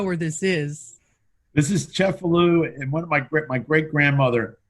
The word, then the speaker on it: Cefalù: And it's also pronounced Cefalù, right? You're right. I was pronouncing it the Monroe way.